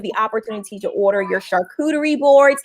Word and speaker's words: charcuterie: You have the opportunity to order your charcuterie boards. And yes, that is how you say it, charcuterie boards, right? I've heard people say, no, they're character boards, girl.